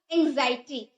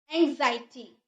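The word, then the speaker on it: anxiety: नहीं कीजिएगा क्या बोलिएगा एंग्जाइटटी इसका एक्स इसको नहीं पढ़ेंगे एंग्जाइटटी नहीं पढ़ेंगे क्या पढ़ेंगे हम इसे ज का ये एक्स है ना इसको ज में प्रोनाउंस करेंगे एंग्जायटी एंग्जायटी यानी कि चिंता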